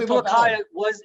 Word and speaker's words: Pulacayo: Is it Pulacayo? Is that how you say it? Yes. And yeah, Stephen, Pulacayo it is the second largest silver mine based on historical production.